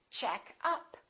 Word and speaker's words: checkup: And if it's a noun, we stress the first part. For example, make up, or I'm wearing makeup. I'd like to buy some new makeup. Another example is check up. Or you can say checkup.